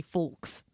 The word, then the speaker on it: folks: not going to lie I didn't even know that the L was silent I just thought that